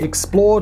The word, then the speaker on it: XPLRD: i run another channel called explored which is spelt xplrd because apparently i hate vowels it's more of a